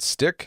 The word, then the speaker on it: Stickk: There's a website out there called Stick, that's spelled Stickk.